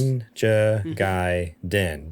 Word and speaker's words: Ninja Gaiden: series, sounds like, and it gives me a pronunciation. It is Ninja Gaiden. There we go. Aha. So you were close. Ninja Gaiden, D-N, just din.